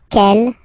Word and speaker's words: quel: And then the feminine form is written like that, Quellelle, but it's pronounced like the masculine form. Quel at the masculine, quel at the feminine.